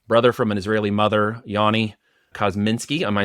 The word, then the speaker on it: Yoni Kozminski: good friend and brother from an Israeli mother Yani cosminski am I saying that correctly you're nailing it